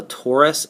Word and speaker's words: torus: And you don't need to worry about the donut thing, but I'm going to just tell you quickly, it's called a torus. It's spelled T-O-R-U-S.